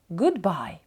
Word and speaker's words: Goodbye: нічкою The Sun says Goodbye е подвійне O у Goodbye може читатися як довге у або коротке у в даному випадку Воно читається як коротке у Goodbye at Night The